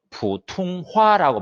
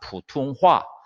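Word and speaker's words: 普通话: 표준어는 보통화라고 이렇게 우리 발음으로 되어 있지만 중국어로는 푸퉁화라고 발음합니다. 푸퉁화.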